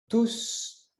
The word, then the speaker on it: tous: situation parce que : "tous" dans ce cas signifie "tout le monde". Alors exceptionnellement on prononce le s, dans les autres cas, par exemple, "tous les jours", je ne prononce pas le "s" bref.